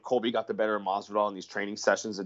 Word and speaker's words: Masvidal: Masvidal. Masvidal, yeah.